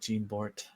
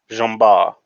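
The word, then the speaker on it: Jean Bart: son is also called gene bort let me let me make sure that it should be uh properly and it's pronounced jumbar they also teach french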